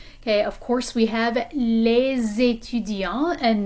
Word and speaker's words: les étudiants: Okay, of course we have les étudiants, and notice that the S in les is pronounced when it's joined onto this word that begins with a vowel, étudiant.